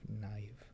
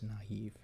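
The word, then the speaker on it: naïve: has the trauma or in naive instead of naive it's naive because the eye is pronounced by itself the last accent character that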